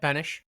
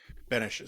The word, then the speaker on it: Benes: So today we have Benesch. Is that how I pronounce it? Yep, Benesch. Benesch. So like the heroic Czech president and not like Elaine from Seinfeld.